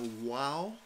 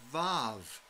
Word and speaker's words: vav: It's called the WAW, W-A-W. But if you learned your Hebrew from a German professor, it's called the VAV, V-A-V. And most of the people in the world pronounce it as Vav.